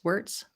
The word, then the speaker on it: Wurtz: okay okay thank you is it warts or warts Mr warts wurtz there we go um yeah could you please advise us of of the correct pronunciation of your name uh words is fine but you're not going to offend me either way um so my name